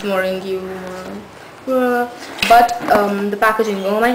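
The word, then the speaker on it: Marongiu: I call it the Marcel palette because I don't know how to pronounce his surname. It's Marongu.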